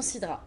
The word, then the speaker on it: Sidra: L'association Sidra. Association sur Sidra. Facebook, alors, donc c'est SIDRA, comme ça se prononce.